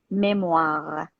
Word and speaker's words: memoir: exactly and uh it's exactly like frank pronunciation in french we say memoir a specific type of